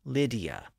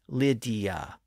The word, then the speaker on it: Lydia: The IA at the end was originally pronounced IA, so Olivia and Lydia. But of course, when we pronounce those names in normal speech, we usually insert a slight Y sound or a Y glide in between. We say Olivia or Lydia.